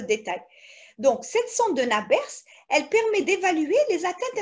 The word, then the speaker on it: Nabers: Cette sonde de Nabers, elle se prononce Nabers.